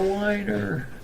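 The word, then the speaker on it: Wiener: You have to whine when you say it. It's a whiner.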